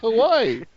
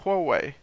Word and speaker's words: Huawei: Hawaii.